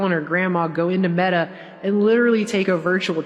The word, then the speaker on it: Meta: the word meta is pronounced like the feminine form of the Hebrew word for dead.